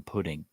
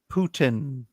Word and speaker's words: Putin: it says Ryan says I'm pudding hmm no it's pronounced Putin I can I can